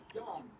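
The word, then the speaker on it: Yon: Yawn with an O. Y-O-N. Y-O-N. It's not yawn. Go thither, and then we shall go yawn. To Yawn Market place.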